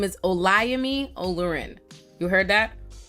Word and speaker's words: Olayemi: that Breakfast Club interview hi my name is oami olurin you heard that o yeah a lot